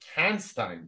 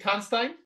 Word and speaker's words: Kanstein: we've got amazing Bram Kanstein. Is it Kanstein? Oh, very well. Well done. Nice. Yeah. Usually they say Kanstein, like Goldstein, but this is how you pronounce it.